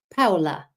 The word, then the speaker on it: Paola: And Paula, I wish I could pronounce this correctly. So it's not Paula like we say necessarily, but Paola. Oh, I think I said it right.